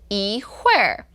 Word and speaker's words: 一会儿: So wait, now you pronounce it differently than before. Okay. Because now you said 一会儿. Yeah, so officially 一会儿. So if you look in the dictionary of official languages in Chinese, it's 一会儿.